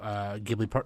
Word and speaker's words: Ghibli: since she was part of the last few Ghibli episodes anyway. I think I was only part of one. Oh, never mind. Okay, whatever. Ghibli, by the way, it's yeah, Ghibli.